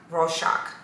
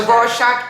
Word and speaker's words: Rorschach: this is actually very famous it's from rorschach raw shock i think i said it right the rorschach inkblots and it's they leave it up to